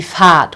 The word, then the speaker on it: Fahrt: So in this case here, in this word, this sounds like a very much prolonged A, die Fahrt, okay?